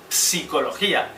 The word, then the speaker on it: psicología: consonánticos Como por ejemplo en el grupo PS en palabras como psicología que se puede escribir con p inicial aunque no pronunciamos psicología Asimismo también lo observamos